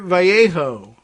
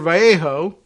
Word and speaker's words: Vallejo: Rhodes prosecutors charged Edward Vallejo v-a-l-l-e-j-o I'm giving it the S Spanglish pronunciation uh himself 63 of